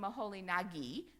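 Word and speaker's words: Moholy-Nagy: NJ by the way berer called him maholi Nagi I suppose that's the way they pronounced it when they were in Germany and I've talked to some hungarians who said no no no it's maholi n something like that anyway we know him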